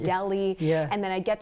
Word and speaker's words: Delhi: correctly in my stories you mentioned Punjab and Dilly instead of Punjab and Delhi yeah and then I